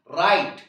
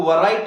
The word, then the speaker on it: write: लिखने को हम बोलेंगे WRITE, राइट। W जो लेटर है वो साइलेंट लेटर है, इसलिए हम इसको वराइट नहीं पढ़ेंगे, राइट बोलेंगे।